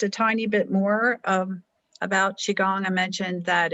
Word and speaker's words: Qigong: Can you spell that? It's okay. It's an ancient spelling, so it's Qigong, and it's Chinese medicine based, like acupuncture.